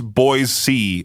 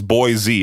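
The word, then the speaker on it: Boise: You you would not pron pronounce boy C as boy Z.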